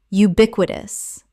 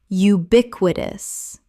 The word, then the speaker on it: ubiquitous: ephemeral ephemeral Word 255 ubiquitous common mispronunciation ubiquitous correct pronunciation ubiquitous four syllables with the stress on the second It means appearing everywhere.